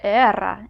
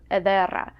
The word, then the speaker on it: ederra: So don't be surprised if you hear era instead of edera, or ayo instead of adio, or aisu instead of adisu.